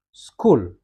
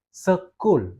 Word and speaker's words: school: Nah, ini satu suku kata karena pengucapannya hanya sekali school gitu ya. Dia enggak bisa kita paksa jadi dua kali pengucapan jadi school ya. Dia harus tetap school ya. Enggak bisa kita jadi dua suku kata.